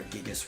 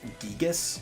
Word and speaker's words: Gigas: a Gigas worm, or Gigas worm, whatever you want to pronounce. I think it's Gigas because it's supposed to be a Greek word.